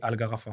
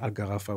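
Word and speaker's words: Al-Gharafa: Euh et rappelle-nous déjà ça se prononce comment le club où tu as le premier club où ? C'était Algarafa. Algarfa.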